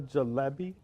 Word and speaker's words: jalebi: So would the jalebi, am I saying it right? Yeah.